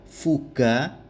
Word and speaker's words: fuga: Fuga dibaca G karena diikuti A. Fuge dibaca J karena diikuti AE yang dibaca E.